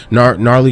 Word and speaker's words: Gnarly: that's my initial so gnarly got a silent g it's a bar in